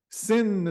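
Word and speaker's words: Sinn: parle ici de Sin le mot sin s i n n s i n n qui est prononcé qui s'écr avec un S une majuscule n mais qui mais que c'est comme un Z c'est un mot allemand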